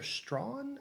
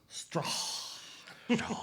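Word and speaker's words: Straughan: Peter Strawn, I believe is how you pronounce that last name. Yeah. Strawn.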